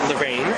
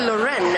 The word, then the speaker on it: Loreen: Lorraine. It's actually Loren. Loren. Loren. Everyone calls you Loren. I know. I know. Not Loren. Not Lorine. Lauren or Loren.